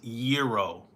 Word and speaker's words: gyro: I think it's Gyro. Y, like a Y sound.